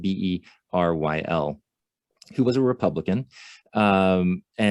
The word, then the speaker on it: Beryl: I believe that's how his first name is pronounced, Beryl, who was a Republican.